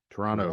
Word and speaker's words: Toronto: also learned that uh people who live in Toronto don't pronounce that extra that second T it's not as well defined Toronto Toronto Toronto Toronto they're like